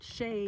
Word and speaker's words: Chelly: So, Pen, we are at um Canyon Deay um in Arizona and Shay is spelled C H E L L Y.